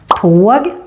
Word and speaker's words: tåg: Tåg, åska. Tåg, åska. Can you hear the different sounds of the O? One is longer and one is shorter.